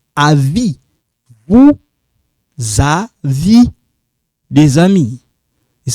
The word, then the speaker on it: des amis: Des amis. So this one sounds like za. Des amis. This one silent. We don't pronounce this. We don't pronounce this, but you write it.